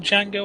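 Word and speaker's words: Django: the city like this D is silent that's true the buffing did you see the film Jango on chain no you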